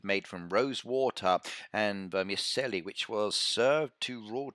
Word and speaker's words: vermicelli: of course we do I've got my Italian accent I can say it so vermicelli there we go it's